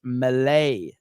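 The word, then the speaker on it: Milei: your pronunciation is wrong it's Malay so it's Malay is how you say it Javier Malay okay got it melee like Melee melee um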